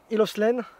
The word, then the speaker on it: Hill of Slane: On est sur Hill of Slane, C'est ça, je le prononce bien?